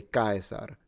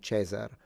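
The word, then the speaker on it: Caesar: And um like when you say kaisar instead of saying chzar um because in ecclesiastical pronunciation it's chzar.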